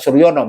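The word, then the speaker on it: Soerjono: mengatakan begitu nah menurut Suryono surjono ya kalau ini huruf lama ejaan lama Suryono jukanto yaitu dibaca Suryono melakukan Suryono Suryono memberikan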